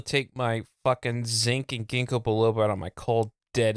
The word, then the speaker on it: ginkgo biloba: No, ginkgo biloba. Ginkgo biloba. It's for your memory. You can't even say it right.